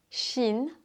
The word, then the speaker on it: Shein: Je ne sais pas si tu connais la marque de fast fashion Shein. Je ne sais pas comment prononcer cette marque chinoise. En France, on dit shein.